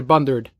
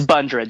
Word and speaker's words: Bundrant: the first Bundoora days that i pronounced that writers are bun dirt it's Bundrant you've understood perfectly the book